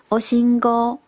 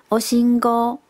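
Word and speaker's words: おしんこ: 酱菜，日文是念作 oshingo， oshingo。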